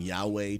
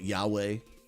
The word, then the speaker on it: Yahweh: I mean, we think about Yahweh now, we've kind of put some syllables in there that originally was actually this Y, W, and an H.